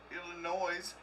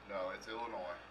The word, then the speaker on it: Illinois: Greg over there in Illinois it's on the end no it's Illinois it's Illinois Dan the S is silent it's like Indiana silence